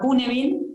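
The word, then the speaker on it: Cynefin: Algo que a mí me gusta compartir es un framework que es un marco de trabajo que se llama Cunefin, se escribe Cinefin, y ahí sí podés mostrar el dibujo para que lo compartamos entre todos.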